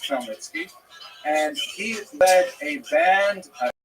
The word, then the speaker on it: Khmelnytsky: You may have seen his name in the literature spelled with a CH, that's a Polish spelling, Chmielnicki, but it's pronounced Khmelnytsky.